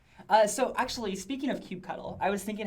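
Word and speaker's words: kubectl: add a link yeah Jason says no it's pronounced cue cuddle so actually speaking of cute cuddle I was thinking how much fun it would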